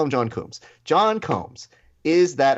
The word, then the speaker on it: Combs: They always, I mean, it's always a Coombs, Coombies, Coombs, like Cones. Like there's a lot of different variations of your very simple John name. Combs.